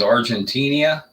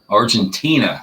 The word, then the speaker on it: Argentina: put away early on i think this is argentinia argentine argentina okay i forgot how to pronounce that it's terrible argentina thank you okay hey thanks a lot bruce